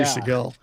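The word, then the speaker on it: Segal: George Seagull is how you pronounce. I say Seagal.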